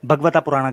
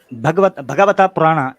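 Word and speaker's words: भागवत पुराण: चले मैं आपको भगवता पुराण का हवाला दे देता हूँ, ये आपके सामने है। ये भगवता पुराण या भागवता पुराण उसको कह लेते हैं, सही प्रोनाउंसिएशन, भागवता पुराण का चैप्टर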